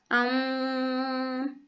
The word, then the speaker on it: Om: que você está enfocando a uma divindade o homem é aquela parte que se pronunciasse ao aum aum que significa aquilo que